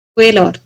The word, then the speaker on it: squalor: SQUALOR, উচ্চারণটা কি? স্কোয়েলর।